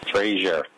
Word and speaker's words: Fraser: do you say I would say it is pronounced Fraser with an ass ser Fraser the phrase the earth freezer so s ier